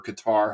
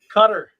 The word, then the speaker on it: Qatar: World Cup did start in Qatar today or Qatar however you want to pronounce the damn thing cutter and Ecuador beats the